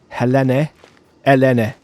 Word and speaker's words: Helene: Helene. That would be... Greeks don't pronounce the H in that case.